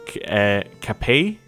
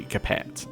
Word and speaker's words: Capet: It is apparently, I believe, Capet. Is that it? Because it's French, and you wouldn't say Capet, because that would make you sound uneducated.